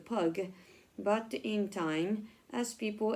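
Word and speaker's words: pygg: clay called Pig and that word was pronounced pug but in time as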